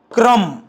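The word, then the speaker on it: crumb: बनतो okay plum प्लंब क्रम bomb महजे तुमही नोटीस केल असेल की या सर्वांमध्ये जो वर्ड आहे बी तो सायलेंट आहे आणखी काही वड आहे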